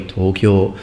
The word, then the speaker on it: Tokyo: It doesn't happen a lot in massive cities like Tokyo, because there people, if I have to pronounce it the Japanese way, Tokyo, because that's, you know, their people are used to it, but particularly if you